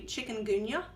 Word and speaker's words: chikungunya: she had developed, I just learned how to pronounce it recently, chikungunya, which is a disease that's carried by mosquitoes.